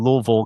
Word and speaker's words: Louisville: event right down in Louisville, Kentucky. I keep saying Louisville because I had a friend who grew up in Kentucky and she bashed me over the head every time. Appropriate pronunciation is Louisville.